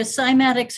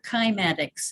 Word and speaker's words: cymatics: It's either cymatics or kymatics. Cymatics. It's spelled CY.